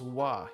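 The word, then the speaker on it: は: you know you're here that is actually ha but is pronounced W in the in the sentence ha is pronounced wa here so there is a there's a difference ha yeah so there's a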